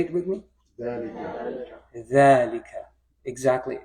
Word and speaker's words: ذلك: ذلك. Exactly. Just like هذا, it doesn't have the ذلك doesn't have an alif after it. It's just assumed. Okay, that's part of the pronunciation.